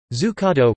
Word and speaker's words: Zuccotto: Zuccotto, pronounced D-Z-U-K-K-T-O, suc, is an Italian dessert with origins in Florence.